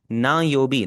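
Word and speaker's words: 何曜日: आपने एक चीज पे ओवर करना है। और वो यह है कि यहां पर यह वाला जो अन है आपका यह हार्ड की साउंड नहीं है। यह सॉफ्ट एन की साउंड है।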